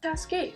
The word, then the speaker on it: Taskade: 对了，这个产品的正确发音应该是 TaskAdd。